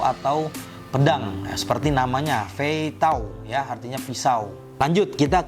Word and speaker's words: 飞刀: Ini dibacanya Fei Tao, teman-teman ya.